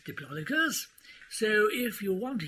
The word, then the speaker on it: Diplodocus: Well, putting the stress on the first vowel, I'd say Diplodocus." "Right. Well, that wasn't either option." "No, that's right. Well, it's not much help to us, then, is it, in the rules of the game? Dare I ask, Snub, what you think the correct pronunciation is?" "Right. Well, in fact, it is Diplodocus.